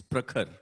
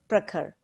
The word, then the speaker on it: Prakhar: Well, Prakhar. Okay, Prakhar, tell me whether you're Prakhar, how do you pronounce your name? It's Prakhar. Prakhar.